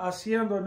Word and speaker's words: haciendo: The H is always silent. It's as if it doesn't exist. So this A and this A blend together and it's pronounced gliding together.